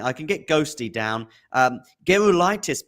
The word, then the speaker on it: Gerulaitis: Gerulaitis, by the way, it's a hard G because that name is, I think, Lithuanian, of Lithuanian descent, and a Lithuanian friend of mine said it's Gerulaitis.